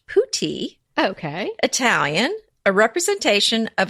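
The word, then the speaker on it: putti: that you're adding okay so I looked up putty while you were talking but I was listening too I know you were I'm sure of course darling so apparently it is pronounced pouti okay Italian a representation of a cherubic infant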